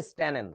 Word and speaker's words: স্ট্যানেন: ছিল এখানেও double N সো এটার উচ্চারণটা হচ্ছে স্ট্যানেন এরকম স্ট্যান আচ্ছা লেড ছিল তাইলে এটা